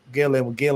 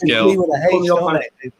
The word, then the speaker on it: Gil: So I think you can go with Gill. They pronounce G as a H in some names. But anyway. Yeah, I think you can go with Hill, but it doesn't really.